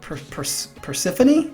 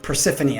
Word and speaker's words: Persefone: Persefone? Persefone, I think that's what it is.